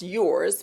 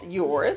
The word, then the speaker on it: URS: okay which is pronounced yours people call it earth because it's spelt urs but i was being tricky my friends don't say give me some of that earth's makeup but no it's called yours and it's exclusively on